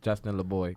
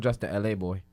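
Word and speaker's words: Justin LaBoy: You're like the fourth person that told me I said it wrong. It's Justin LeBoy.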